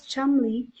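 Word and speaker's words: Cholmondeley: is pattern as reputation according to leaders pronounced as chumly is a double society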